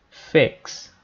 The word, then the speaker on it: fix: consertar em inglês é Fix Fix não se pronuncia Fix não é Fix com som de i longo Fix não é é